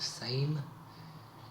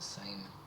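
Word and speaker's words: Sejm: oh my God and it's written like s e j m not s a m e so it's not it's not an English word it's pronounced the same but it's a Polish word uh I I can't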